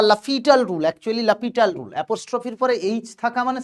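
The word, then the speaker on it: L'Hôpital: এল হসপিটাল rule বা লাফিটাল rule actually লাপিটাল রুলঅপস্ট্রফির পরে এইচ থাকা মানে সেটা উচ্চারণ হয় না।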